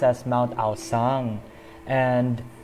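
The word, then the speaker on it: Aocang: It's supposed to be pronounced as Mount Aosang, and not actually not Mount Aochang.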